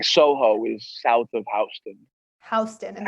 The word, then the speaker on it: Houston: is south of houston houston and that's how you say it houston right yeah not like this not like the city of texas houston yeah that was me